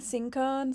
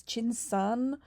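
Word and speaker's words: 青苍: Because I was saying Sinkan, sorry, it's Chin-san.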